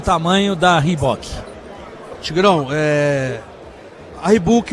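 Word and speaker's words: Reebok: a Rebook. Então, usando aí a pronúncia correta, ela entra fornecendo, que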